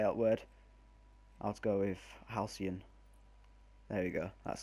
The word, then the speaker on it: Halcyon: Helicon. I can't say that word. I'll go with Halcyon. There we go. That's how you pronounce it. Boom. Halcyon.